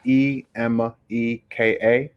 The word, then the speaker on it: Emeka: It's Emeka, real simple. And my last name is, which is spelled M for Mary, B for boy, A for apple, D for David, IWE.